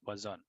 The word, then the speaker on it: Poisson: an easy manner or magdalene but our correct pronunciation is poison so in this topic we'll be discussing the